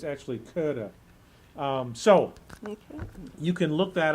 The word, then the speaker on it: Goethe: Yep, Philip Melanchthon, if that's how his name is pronounced, with Goethe, and there's Goethe's name. It's actually Goethe.